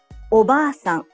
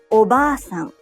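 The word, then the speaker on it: おばあさん: Oba-san. The a in ba is held for 2 claps. Oba-san. Japanese learners often shorten the long vowel in ba and say oba-san, meaning aunt, not grandmother.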